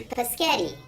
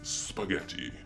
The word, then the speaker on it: spaghetti: They say, Paschetti. and we don't correct them and say, Actually, the proper pronunciation is spaghetti.